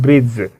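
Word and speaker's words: bridge: के बाद दी है ये जो दी है वो साइलेंट होगा इसे हम लोग प्रोनाउंस नहीं करेंगे इसे हम लोग कहते हैं ब्रिज ब्रिज मेंस होता है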